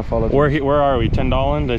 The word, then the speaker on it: Tänndalen: Tänndalen? Did I say it right? Tänndalen.